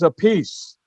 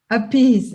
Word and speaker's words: Appice: real pronunciation the the the real pronunciation of your uh uh your name is apes or abs or a peach uh opposite advocacy but carmine says a peace a piece yeah because he used